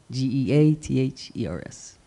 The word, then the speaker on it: Geathers: And It's Gathers, spelled like feathers, but with a G. Geathers.